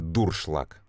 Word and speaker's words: дуршлаг: и меня это поражает давайте начнем со слова дуршлаг правильно дуршлаг а кто-то до сих пор говорить неправильно очень много слов к